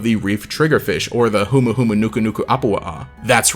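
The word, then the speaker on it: humuhumunukunukuāpuaʻa: based off of the reef triggerfish or the humuhumunukunuku apoa'a that's right i know how to say it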